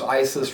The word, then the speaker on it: ISIS: our Iraq and Syria plus it rhymes with crisis so you can say the ISIS crisis but at any rate